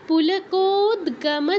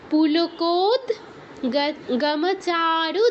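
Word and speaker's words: পুলকোদ্গম: গম চারু দেহা প্রহর্ষ পুলকোদ গমচারু দেহা এখানে মাঝখানে যে যুক্তাক্ষরটা আছে দয় হসন্ত যোগ্য গ এর নিচে কিন্তু হসন্ত আছে তো আমরা দ এর কিন্তু পূর্ণ উচ্চারণ করতে পারবো না তাই কি বলছি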